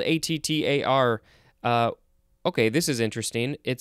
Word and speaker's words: attar: It is spelled A-T-T-A-R. Okay, this is interesting. It says also auto. O-T-T-O. Auto. And that also shows an A with an umlaut for the first syllable, so that's ah. So ah. Attar.